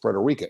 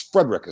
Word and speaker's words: Frederica Street: The main street that goes through Owensboro is spelled phonetically, or spell it out, Frederica Street. But nobody says Frederica. It's Frederica Street.